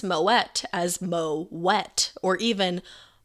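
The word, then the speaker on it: Moët: way it says surprisingly moet is pronounced with a hard t and not a silent t as is typical for most of the french language you should pronounce moet as mo wet or even ma et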